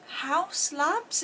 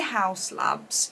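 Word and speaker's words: Haus Labs: Is it House Labs? Is that how you pronounce it? Or it's spelled H-A-U-S. I'm going to say House Labs by Lady Gaga.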